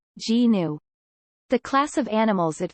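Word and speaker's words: gnu: kanekiti's terrinus it is also referred to as a new pronounced g-new the class of animals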